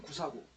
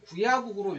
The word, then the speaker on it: 구야국: 그래서 그 용리에 따르자면은 구사하 구사국을 뭐로 읽을 수가 있냐면 구야국으로 읽을 수가 있어요.